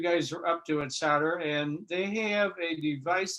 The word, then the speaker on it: Soter: So, and so Larry is involved with, it's pronounced Soter tech, right?